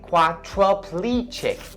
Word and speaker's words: quadriplegic: Don't say quadriplegic, but it has to be quadriplegic. Quadriplegic.